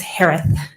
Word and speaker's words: Herath: maiden name s-a-n-d-e-r-s-o-n last name is pronounced like Harris with a lisp it's herath h-e-r-a-t-h hi Shay hello